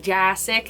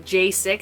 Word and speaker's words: Jassik: jassik if you're wondering how to pronounce my last name it's with an a like jassic you know not jsic I've always been called jasig when like you know